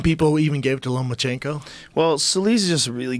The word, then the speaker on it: Lomachenko: It's Lomachenko, right? Lomachenko, yeah.